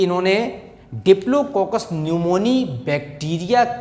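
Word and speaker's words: pneumoniae: इन्होंने क्या किया कि इन्होंने डिप्लोकोकस न्यूमोनी बैक्टीरिया के स्ट्रेन पर अपना एक्सपेरिमेंट किया है, एक्सपेरिमेंट ऑन डिप्लोकोकस न्यूमोनी। क्या है ये diplococcus न्यूमोनी? Causal organism of न्यूमोनिया। ये साइलेंट है।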